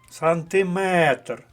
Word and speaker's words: сантиметр: склад ярмарковий третій склад сантиметр пам'ятаємо що сантиметр міліметр дециметр все що стосується метра іде склад на метр Отож третій склад і